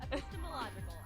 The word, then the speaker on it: epistemological: the microphone here epistemological epical you said it wrong epistemological I was close um